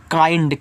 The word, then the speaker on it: kind: आगे है KIND, इसको पढ़ते हैं काइंड, किंड मत पढ़ना, काइंड पढ़ना, काइंड, इस तरीके से काइंड।